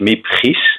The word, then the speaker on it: Miep Gies: her name is, and I will pronounce it in Dutch, Miep Gies.